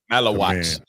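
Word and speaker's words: Maluach: Malawach.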